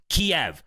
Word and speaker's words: Kiev: And by the way, they're trying to make you say Kyiv now because that's the Western way of saying it. In Kiev, it's pronounced Kiev, okay?